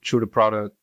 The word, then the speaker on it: Tru Da Produk: like product but uh that's how you you know pronounce product in French that's how you pronounce